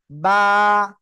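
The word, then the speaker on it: ب: ঠোঁটের ভিজা অংশ থেকে তাহলে বা অক্ষর কোন জায়গা থেকে উচ্চারণ হবে দুই ঠোঁটের ভিজা অংশ থেকে বা অক্ষর উচ্চারণ হবে সবাই মুখস্ত করেন দুই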